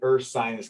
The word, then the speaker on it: Ursinus: am one of the senior assistant directors at ursinus college as you can see there we do like to uh make it clear of how to pronounce the name but it is earth science college so we're located about 25 miles northwest